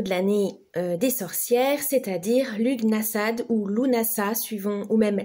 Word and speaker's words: Lughnasadh: Donc, Lughnasadh, ou qui se prononce Lunasa, qu'est-ce que c'est?